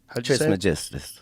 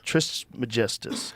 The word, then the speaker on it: Trismegistus: Trismegistus. Trismegistus.